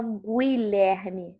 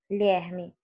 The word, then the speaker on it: Guilherme: Você não fala Guilherme, você fala Guilherme. O som do U é nulo. Então, eu tenho o G e o U juntos, porém, o som é apenas um. O U não se pronuncia.